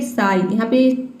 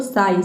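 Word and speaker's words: sigh: जाएगा क्विटिंग हो जाएगा साई देखिए इसको हम पढ़ेंगे साई थोड़ा सा मुझे लगता है कि इसको प्रोनाउंस करने में आपको डिफिकल्टी हो सकती है इसलिए मैंने यहां पे इसका प्रोनंसिएशन लिख दिया है इसको पढ़ना है आपको साई साई का मतलब होता है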